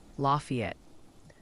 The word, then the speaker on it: Lafayette: It's pronounced Lafayette.